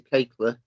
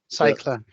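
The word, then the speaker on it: Cajkler: I mean, I'm interested in the reference you made to Kakler. I don't know if I said that right. Cycler, it is.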